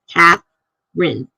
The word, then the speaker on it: Catherine: Katherine getting SP yeah my daughter is Catherine two syllables k a t h r YN and everybody spells it Catherine like you've got it right there it's like that's not her name and that's three syllables hers is two cath Rin milia says R out